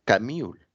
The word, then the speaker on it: Camus: bueno se llamó Albert camul se escribe Albert camus pero se pronuncia camul eh él pues se